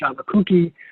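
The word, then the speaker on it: Sciabacucchi: The case, which I believe is pronounced Shabakuchi, but it's also called Shabakuki, is on appeal to the Delaware Supreme Court.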